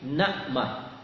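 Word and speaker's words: نعمة: mukazbin kata Allah tapiah tidak Nikmah ya Pak bacanya tapi nakmah kenapa nakmah nakmah ini adalah nikmat pertama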